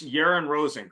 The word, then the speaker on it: Yaron Rosen: I've been at SEMA multiple times, but I don't want to mispronounce. It's Brigadier General, retired, I guess, or reserve. It's Yaron Rosen, correct?